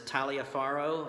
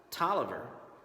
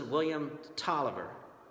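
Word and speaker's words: Taliaferro: times one version is talia farro another one is tala farro but this fellow during the Civil War his last name believe it or not was actually pronounced Tolliver so this is William Tolliver then we have Lewis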